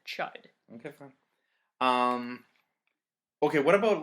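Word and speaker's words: Chüd: it's Chad true guys I read an audiobook because I'm lazy they pronounced it chide ok what about like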